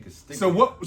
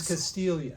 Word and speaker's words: Castiglione: I think it was the G that threw you off. It could have been. Because you were Yeah. saying Castiglione. So what? It's Castilia.